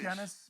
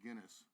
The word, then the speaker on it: Guinness: Guinness Book of World Records. You gotta Twitch. say it correctly though. It's Guinness. Not Guinness. Well, I'm Michigan accent.